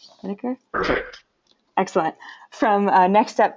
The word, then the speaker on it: Schnedeker: And Bryan, I forgot to check your pronunciation of your last name. Is it Schnedeker? Schnedeker?